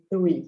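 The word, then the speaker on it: three: Lembra desse 3 que tem que mostrar da língua? 3 é igual thank you.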